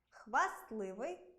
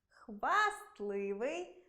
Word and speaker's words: хвастливий: Це слова зап'ясний, кістлявий, пестливий, хвастливий, хваснути, хворосняк, 16, компостний, контрастний. У цих словах-винятках звук «т» у вимові зникає, але на письмі зберігається.